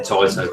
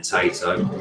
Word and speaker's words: Taito: I've only just started saying Taito correctly. Before then I was saying Tato.